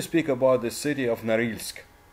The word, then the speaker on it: Norilsk: Now we need to speak about the city of Norilsk, or Norilsk, I would say, pronounced in English.